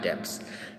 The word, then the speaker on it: debts: He lives his life lavishly on debts. Debts means होता है कर्ज। Debts नहीं, इसका जो रियल प्रोनाउंसिएशन है वो क्या है? debts be silent है।